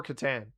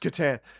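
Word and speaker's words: Catan: Or katan. It's pronounced katan.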